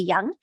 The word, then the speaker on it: Yeung: should be easy to search me as young uh young is spelled y-e-u-n-g and I have more information about